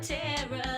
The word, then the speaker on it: Ptera: are safe here with teror that's b t e r a shh the p is silent